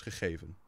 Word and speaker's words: gegeven: Now, the further down south you go, so let's say I live in the center of the Netherlands, so the way I would pronounce it is gegeven, which you can already tell is still quite guttural, but it's not as guttural as it is up north.